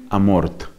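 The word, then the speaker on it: Amorth: recientes, el padre Gabriel Amort. Amort se escribe con TH.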